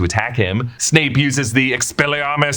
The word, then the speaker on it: Expelliarmus: You have to say it like Expelliarmus. You gotta put more emphasis on everything for some reason. Expelliarmus.